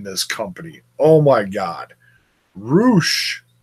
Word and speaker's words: Rush: Roosh. There, I finally pronounced it correctly. Hope that makes everyone happy. I've been pronouncing it for weeks as Rush. It's spelled Rush.